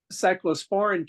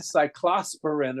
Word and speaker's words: cyclosporin: Dr clav calendar and I remember mispronouncing that word so badly that everybody turned and looked at me because I called it cyclosarin or something and I've never been